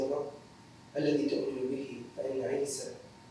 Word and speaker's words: عيسى: الذي تؤمن به، فإن عيسى اسم عربي ينطق هناك عيسى، وهو ما يعني الرقم واحد بالفلبينية.